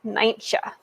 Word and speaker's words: Nijntje: So, in Dutch, Miffy's name is Nijntje, which is kind of a hard name to say, especially if you see how it's spelled.